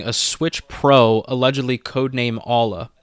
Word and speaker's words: Aula: Switch Pro, allegedly codename Aula. I think that's how you say it, A-U-L-A, so Aula, yeah.